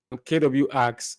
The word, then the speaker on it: kwargs: Today, we'll be looking at functions with default values, and then args, KW args, or you can say kwargs if you want to pronounce it as one word.